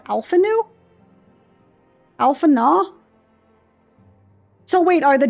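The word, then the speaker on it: Alphinaud: and alfino if you would his name is pronounced alphanu alphana so wait are the ds silent also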